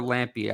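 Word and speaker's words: Lampe: Uh uh Mike, do you know is it Brock Lamp or Lampy? I thought it was Lampy. Yeah, Lampy. That's That's how I've been pronouncing it.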